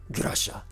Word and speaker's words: Grusha: Actually, Grusha. Oh, we're gonna say it like that for the entirety of it now.